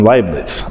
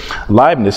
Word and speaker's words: Leibniz: of uh gottfried wilhelm leiblitz i'm sure i mispronounced that he's a german guy yeah but leibniz who comes along a